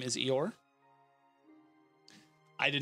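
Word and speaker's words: Eohr: um her name is eeyore i did not name her but it's it's e-o-h-r but yes it is pronounced like a certain um donkey if you were a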